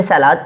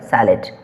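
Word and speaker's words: salad: कुछ लोग तो इसे सलाद पढ़ते हैं, लेकिन नहीं, इसका रियल प्रोनाउंसिएशन क्या होता है, सैलड।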